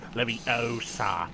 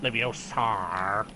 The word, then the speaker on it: Leviosa: you're saying it wrong it's Leviosa not leviosar man he's a nightmare